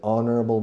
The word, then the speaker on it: honorable: Pedro is an honorable man. Pedro is an honest man. Todos son H's mudas. And honorable and honest. Okay?